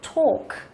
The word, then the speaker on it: talk: Chữ A và D với chữ L thì chúng ta đọc là âm O dài.